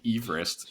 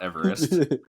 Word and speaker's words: Everest: after this guy um George eest he actually pronounced his name Everest not Everest which is so stupid like it's like the